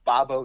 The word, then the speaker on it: Bobo: So to me, that tells me that that's now the third thing I've seen that says Bob-O. Yeah. You seem to think it's Bob-O.